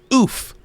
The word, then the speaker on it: Oof: But yeah, if it's a guy, we're gonna name him Oof, OOF, Oof, and that's how you pronounce his name, Oof.